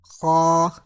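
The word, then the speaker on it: خ: Kha do pesh khun. Khan khin khun. Kha is pronounced from top part of throat.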